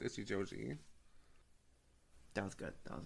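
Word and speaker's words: Ichijouji: hole joke weird yeah his last name is pronounced itchy Joi that was good that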